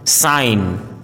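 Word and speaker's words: sign: यदि किसी वर्ड में जी एन या जी एच साथ में हो तो जी का उच्चारण साइलेंट होता है, जैसे असाइन, डिजाइन, साइन, foreign, रिजाइन, अलाइन, height, light, fight.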